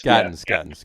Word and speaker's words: Gattens: It's Gattens. Gattens. And where the emphasis was.